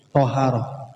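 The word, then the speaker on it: طهارة: Nas pakai Nas thi jadi bacanya watharatu bukan atuharatu atau attiharatu jadi atharatu baca Thaharah th bukan th kalau th Nanti beda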